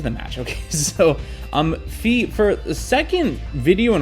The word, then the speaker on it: Fille: And it is pronounced Fee. So don't say Philly. It's not Philly.